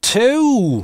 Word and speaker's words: too: Не тю-тю-тю, как «денежки тю-тю», т.е. по-русски вы сразу вытягиваете губы - тю. А чтобы получилось английское too, мы вытягиваем губы не сразу. Мы начинаем просто от звука [t].